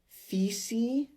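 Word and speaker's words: Fisi: who tangas are um where they refer to it as I think feces f-i-s-i eventually it was Anglican sized or whitewashed or mispronounced however you want to say it to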